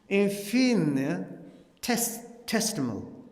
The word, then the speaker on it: infinitesimal: Infinitesimal.